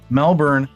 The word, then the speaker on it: Melbourne: Melbourne is how I pronounce it because I pronounce my Rs and they don't.